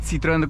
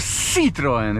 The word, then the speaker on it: Citroën: Not Citroen, but Citroen. I know I'm saying things differently in this episode, but it's pronounced with an S.